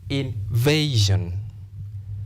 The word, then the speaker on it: invasion: Therefore, because of this rule, because the word ends in S-I-O-N, you stress penultimate, second syllable. And if you examine this syllable, you realize when you articulate this word, there is a diphthong, A, invasion. Therefore, invasion.